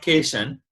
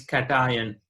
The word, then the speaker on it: cation: It is not cation, it is cation.